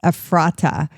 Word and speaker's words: Ephrata: Yes, Ephrata.